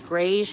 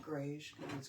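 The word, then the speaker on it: greige: Grayge. How do you say it? Grayge gray and beige.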